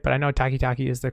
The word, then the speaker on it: Takitaki: i say that name right but i know takitaki is the correct way to say that last